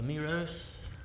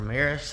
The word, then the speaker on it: Meross: I just hung the remote up there on the power cable, wire nutted in the Meross or Meross, however you want to pronounce it.